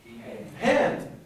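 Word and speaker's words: ἕν: A rough greeting mark. So how would you pronounce this word? Hen. And it's the number one in Greek. It's the numeral one. So the only difference between in and one is en or hen. Can you hear the difference?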